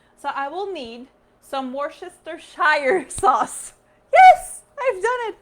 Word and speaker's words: Worcestershire: So I will need some Worcestershire sauce.